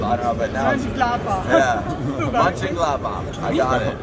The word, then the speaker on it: Mönchengladbach: Mönchengladbach. Mönchengladbach.